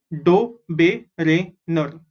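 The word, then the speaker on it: Döbereiner: D-O is do, B-E is be, R-E-I is re, N-E-R is ner. Dobereiner.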